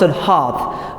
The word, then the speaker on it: hearth: So it's pronounced hearth. Now, and there is difference between heart and hearth.